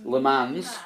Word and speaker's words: Le Mans: Do I say it like Lee says it, or says it properly? Say it Le properly. Mans. Le Mans.